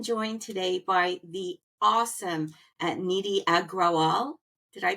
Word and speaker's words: Nidhi Agrawal: So I am joined today by the awesome Nidhi Agrawal. Did I pronounce that right, Nidhi?